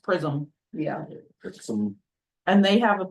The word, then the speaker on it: PRSM: Yeah, apparently it's pronounced Prism.